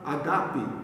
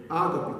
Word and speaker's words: agape: A palavra que traduz esse tipo de amor é a palavra agape, ou ágape, como alguns pronunciam.